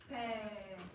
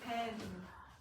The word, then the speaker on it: pain: The N basically makes the vowel nasal. Pain, it's nasal. Pain. That's the role of the N, but you don't pronounce the N, you don't say pen. It's just pen.